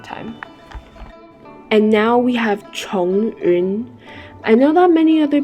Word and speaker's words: Chongyun: And now we have Chongyun. I know that many other people pronounce his name as Zhongyun, but I believe the correct pronunciation, according to how it's spelled is actually Chongyun.